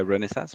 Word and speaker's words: Renesas: The Japanese people say Renesas, but Renesas, yeah. Renesas.